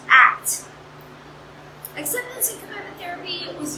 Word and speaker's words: ACT: So today I'm going to be giving a talk on acceptance and commitment therapy, which is abbreviated ACT and pronounced ACT.